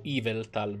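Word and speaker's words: Yveltal: Povero Iveltal. Per essere... Oh, Iveltal, l'accento è su Evil, malvagio.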